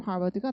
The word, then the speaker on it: Harvard: Only H from Harvard가 보시면 강세가 only from Harvard.